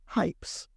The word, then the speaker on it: Hipes: But my YouTube channel is called Planet Hypes, and it's spelled Hipes.